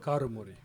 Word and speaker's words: Karumari: Karumari.